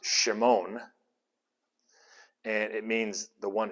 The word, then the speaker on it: Shimon: and so he says simon which in in the hebrew uh or the in the hebrew greek transliteration that they had it was probably pronounced shimon and it means the